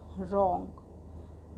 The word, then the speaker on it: wrong: WRONG, रॉन्ग। रॉन्ग means गलत। इसमें W हमारा क्यों साइलेंट है? क्योंकि W लेटर के बाद हमारा R लेटर है।